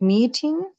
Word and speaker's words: meeting: Is it meeting? Should we pronounce T letter or D letter? T as a t meeting.